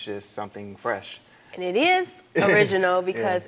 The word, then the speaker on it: Phresh: Oh, it's spelled P-H-R-E-S-H. And so we just, we wanted something different. We wanted to be like phonetically correct about it, but it's something that